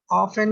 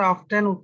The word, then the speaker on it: often: এই যে কিছু কিছু জায়গায় টি এর উচ্চারণটা হয় না, আমরা যেরকম দেখলাম যে লিসেন না, দেখলে মনে হবে লিস্টেন, তাই না? কিন্তু উচ্চারণটা হবে কি লিসেন।